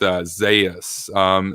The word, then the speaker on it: Zayas: I know people were saying the other day that his name is pronounced Zayas.